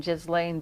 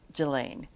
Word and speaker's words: Ghislaine: otherwise known as well G H I S L A I N E which I was pronouncing Jiz Lane but I hear people calling her Gilain.